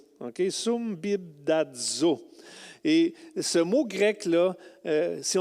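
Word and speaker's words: συμβιβάζω: Et le mot grec n'est pas facile à prononcer, c'est sumbibdazo. Okay? Sumbibdazo.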